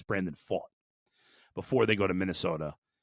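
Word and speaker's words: Brandon Pfaadt: Brandon Faught is how you pronounce the name. I always want to say Fat because it's spelled Pfaadt, but it's Brandon Faught.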